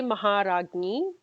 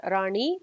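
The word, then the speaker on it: Maharajni: So the first one is Shri Mata, second one is Shri Maharagni, not Rani, Shri Maharagni.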